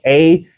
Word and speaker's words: Ahava: Hava is spelled A-H-A-V-A, Ahava.